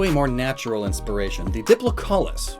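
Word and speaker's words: Diplocaulus: more natural inspiration the diplocollis which up until this point i've always pronounced diplocalcus i don't know where that extra c came from probably its head some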